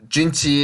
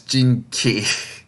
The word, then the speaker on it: Jinchi: They keep saying it as Jinki, and it sounds so bad. Oh gosh, it's Chi, so it sounds like CHI in English.